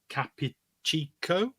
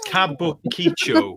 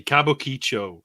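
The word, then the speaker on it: Kabukichō: red light neighborhood of Capichico, where it's located. I said that completely I love wrong. a good Capuchico. Yeah, I love a good Capuchico, you know. It's Kabukicho. Sorry, Kabukicho is the correct pronunciation.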